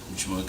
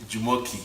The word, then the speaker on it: Jumoke: Jumoke. Yeah. That's the global, you know, pronunciation of her name, but her real name is Jumoke.